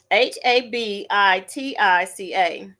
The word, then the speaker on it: Habitica: It's pronounced, I'm sorry, it's spelled Habitica. And that's not habitual. Habitica.